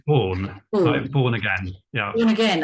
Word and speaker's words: Baughen: interview with is that how you pronounce it it's born born again yeah born again oh marvelous or